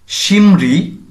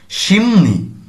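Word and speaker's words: 심리: সিমরি, কিন্তু উচ্চারণ কেমন হবে? মিউম আসার কারণে রিউলটি আমাদের করতে হবে নিউনের মতো, সিমনি।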